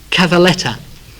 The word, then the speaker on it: cavalletta: The actual pronunciation by the Italians, or the word they use to describe the locust, is cavalletta, and it literally means a little horse.